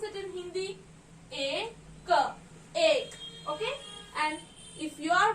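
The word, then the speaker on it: एक: And what do we pronounce it in Hindi? Ek, okay.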